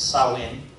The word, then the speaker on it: Samhain: especially the daughter dead Samhain that's the name of the celebration pronounced saw in sacrifices were made to